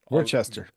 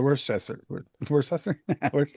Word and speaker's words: Worcester: were contributed don't know what that mean um Tim say Worcester Worchester or worester I don't know Worchester Worchester it's Worcester Worester